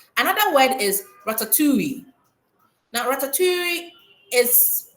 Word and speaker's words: ratatouille: Now ratatoui is pronounced in its original French context. It's not pronounced in the English context. It's pronounced in French.